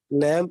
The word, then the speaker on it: lamb: like b in depth lamb and bombas okay so b is silent in all these letters okay so if there